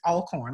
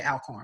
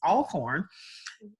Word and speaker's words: Alcorn: very picky about pronouncements I think it's all corn I used to say alcohol but it's all corn mad at Alcorn State